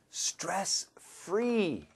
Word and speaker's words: stress-free: Stress-free 발음 신경 써야 돼요. Yes, you do. S-T-R 하고 F-R. Some students, 스트레스. 그렇게 하지 마세요. Stress-free 하면 웃기지. 웃겨요. 그렇게 하지 마세요. Free 말고 free. Stress-free.